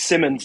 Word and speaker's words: Symonds: Nick, I keep saying Symonds or Symonds. I've spoken to you so many times on the radio, and I'm sorry I've blanked on it. Do you prefer Symonds or Symonds? It's Symonds, Nicky.